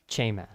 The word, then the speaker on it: chema: Chema. Chema. And it's chema. Chema. Chema. Chema. But the emphasis is always on the first syllable, so chema.